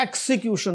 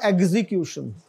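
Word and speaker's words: execution: आगे जो है इसका तलफ़ुज़ एक्सीक्यूशन, नॉट एग्जीक्यूशन, एक्सीक्यूशन, और उससे आगे है एक्सटेम्परी, नॉट एक्सटेम्पोर, एक्सटेम्परी, फिल बदी जिसको कहते हैं।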